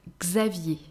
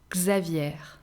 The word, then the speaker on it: Xavier: have the letter x with the mixed name xavier listen and not a common uh the feminine version is really not common although i had a grandmother who was called like this xavier guzza vier xavier then we have letter y again here not